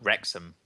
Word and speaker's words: Wrexham: traveled from cardiff to wax how do you pronounce that at that rose oh what is that now oh wrexham wrexham that's actually how it looks cool sharing